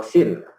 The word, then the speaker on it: scene: Pertama di sini ada namanya skin ya, atau sin. Kalau tulisannya, bacanya saya senang bacanya skin sih, kalau aslinya sin kan ya.